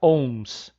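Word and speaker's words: ohms: em e esse símbolo essa letra grega chamada ao omega se pronuncia once certo horror de resistividade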